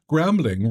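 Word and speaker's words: Grambling: Tomorrow is going to be gramling. Rhymes with gambling.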